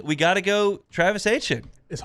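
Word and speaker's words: Etienne: We got to go Travis Hane.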